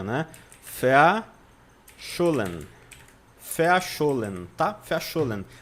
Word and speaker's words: verschollen: Verschollen. Verschollen, tá? Verschollen. Porque a letra V no alemão tem som de F.